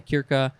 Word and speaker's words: circa: the etymology say from the latin kirka or it's spelled circa but i think they say kirka which means about plus ds